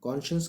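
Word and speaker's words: conscience: Cone, उसके बाद साइंस लिखा होता है, हम प्रोनाउंस करते हैं इसको कॉन्शियंस। तो Lencho was एन ऑक्स ऑफ अ मैन।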